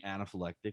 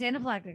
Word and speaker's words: anaphylactic: saying like a word i'm saying anaphylectic but i am not conscious that's how you pronounce anaphylaxis okay i was saying but oh actually it might be anaphylactic it's anaphylactic shock so she was in